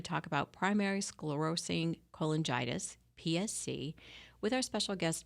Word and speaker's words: cholangitis: said it right the first time primary sclerosing cholangitis yes that's right exactly great so I'm going